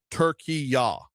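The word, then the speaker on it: Türkiye: She said uh turkey ya with a y ah on the end.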